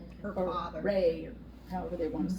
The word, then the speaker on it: Ra: her ra her father Ray however they want to say it now it's changing from when I learned all these names they're they're they're changing the pr pronunciation so they call him Rey a lot now so